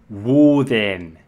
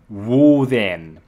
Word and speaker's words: Woden: or that anyway secondly wool then can also be pronounced as wooden woo then Joseph Wright and Edward